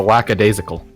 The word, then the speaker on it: lackadaisical: there's no S in it. It's a lackadaisical. Lackadaisical.